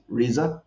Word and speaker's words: RZA: actually get into the 's head how you pronounce it RZA yeah into his head and you know you